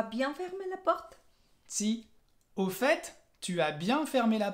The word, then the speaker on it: au fait: Sí, Fabi, au fait, que es por cierto. Y en au fait, la T final la vas a pronunciar.